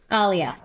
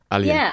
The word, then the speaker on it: Aliyah: It's pronounced Aliyah, right? Aliyah. Aliyah.